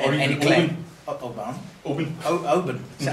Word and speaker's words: Oban: Oban. Is that how you say it? Oban. Open. Well, you pointed it. We go Oban. It's open. Oban. Right. That's it. A bun's what Baker makes.